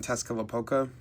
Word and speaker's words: Tezcatlipoca: But getting into the deck profile, we have the two quote-unquote bricks of the Darklord deck, Morningstar and Tezcatlipoca. Yes, for anyone who's curious, that is how that's pronounced.